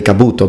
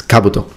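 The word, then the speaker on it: 兜: as you know um please notice that the accent is on the first vowel Kabuto Kabuto as we Italians tend to put the accent in the following vowel so we tend to say Kabuto but it's Kabuto okay now this in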